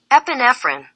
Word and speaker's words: epinephrine: 비프라인은 뭔가 Epinephrine. 발음이 이렇게 되고요.